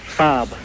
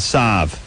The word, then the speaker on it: Saab: to me please Volvo Sab okay work close enough got it yeah unlike my barber who says uh Bobo and Sab sa yeah Bobo and Sav those are the way he pronounces it like listen you jackass